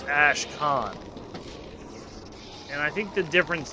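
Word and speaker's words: Ashkhan: But anyway, I usually don't care, but I kept saying Ash can. I'm pretty sure it's Ash Khan.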